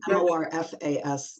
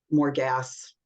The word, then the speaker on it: Morfas: Okay, so it's Morfas, not more gas.